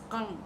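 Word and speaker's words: !Kung: So the name of the tribe as they pronounce it will be kung, kung. Okay, so it's difficult for me to pronounce it because my tongue is not trained to pronounce words in such a way, but kung, that's the pronunciation.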